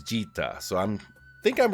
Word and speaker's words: Djeeta: in this character spotlight, we're looking at Djeeta. I think the D is silent, I'm not sure, but you might recognize this character.